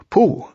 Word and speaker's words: Pooh: to in various ways poo by the way is pronounced sort of like poo but without so much ooh like the sound you make when blowing a bug off your arm on a hot summer day before we bring our